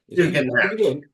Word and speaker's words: Tugendhat: Is it Tugel? How do you say his name? The ex-army guy? Oh yeah, Tugendhat.